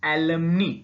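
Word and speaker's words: alimony: fine next please alumni its pronunciation alum me spelling is a li m oh and what so what is LM me LM me is that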